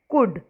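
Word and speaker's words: could: become carry carried can कुड इसमें L silent है ध्यान से रखें ध्यान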